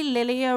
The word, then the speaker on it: Lilia: Lilia. Luckily, Lilia rhymes with Celia because I think I am a Squid.